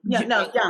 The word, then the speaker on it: Jung: spirituality was termed by, I say Carl Jung, but I think it's Carl Hung. I forget how you say it. J-U-N. Young. It's thank you. Jung. I actually heard it.